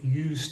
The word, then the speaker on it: used: English that I've heard the s still sounds like an S and and in fact